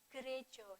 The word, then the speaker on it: gereja: Kristen Jawi Wetan nah memang tulisannya gereja ya tapi kita membacanya krejo jadi gkjw itu singkatan